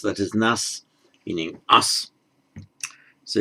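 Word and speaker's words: нас: It's pronounced nas, that is nas, meaning us.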